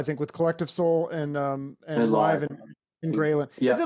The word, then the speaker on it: Live: You know, when you live that firsthand, you can't help but connect yourself to mental health.